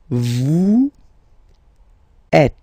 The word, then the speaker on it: êtes: Vous êtes. Same thing here. Notice that final S is not pronounced.